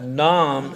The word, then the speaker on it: Nam: So the first syllable is really easy like nam as in Vietnam.